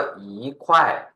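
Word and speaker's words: 一块: นี้ เลย นะ ครับ อ ปกติ เป็น เสียง 1 ต้อง เปลี่ยน เป็น เสียง 2 นะ ครับ อ่าน ว่า อี๋ ใช่ ม ตัว หลัง เค อู ไอ คว เสียง 4 ไขว้ รวม กัน อ่าน ว่า อี๋ ไขว้ อี ไขว้ นะ ครับ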